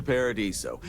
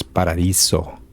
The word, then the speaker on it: Paradiso: Welcome to Paradiso. Jiro Sukiyama at your service. Do you have a security concern, or is there something else I can help you with? Your pronunciation is Spanish. It's Paradiso.